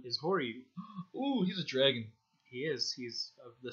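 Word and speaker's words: Draaagin: Well, in English, his name is Dragon, but it's spelled like D-R-A-A-A-G-I-N. Like things are dragging along.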